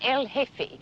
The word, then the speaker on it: El Jefe: G-E-F-E, the J is silent, El Jefe.